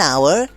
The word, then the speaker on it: hour: So, for example, we use an before words like are, honest or air because the H is silent and they start with a vowel sound. Ah, I see. That's why it's an hour and an honest person.